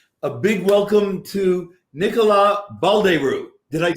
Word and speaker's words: Baldeyrou: there's any problem a big welcome to Nicola Bal de rue did I'd say it arrived did I saw you again I pronounced your name right yeah and he could